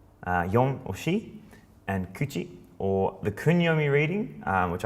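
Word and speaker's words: 口: It's ko and ku is the onyomi reading of mouth, and this one here is kuchi is the kunyomi reading.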